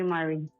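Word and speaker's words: Mari: Ah Mary. Can you call me Mary? How do you spell that? M A R I. Ah Mary.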